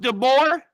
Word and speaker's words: De Boer: I don't want to say your name wrong. Is it de BOER?